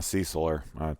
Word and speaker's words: Cecil: Kirby and I differ on the way we pronounce Cecil. I'm a Ceciler. I say Cecil.